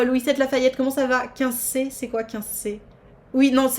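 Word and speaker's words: Quincey: 15C, c'est quoi 15C? Oui, non, alors ça s'écrit Q-U-I-N-C-E-Y, le 15C.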